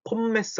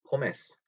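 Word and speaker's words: Pommes: 여기다 폼메스 하지 마시고 포메스. M 두 개 들어가는 거 혹은 N 두 개 들어가는 발음 얘기했었죠? 콤맨 아니고 코맨. 큰는 아니고 그는 이런 식으로 할 때처럼 폼메스가 아니고 포메스 이렇게 읽으시면 됩니다.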